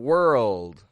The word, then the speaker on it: world: to consider here are the words word and world world word world world these two words people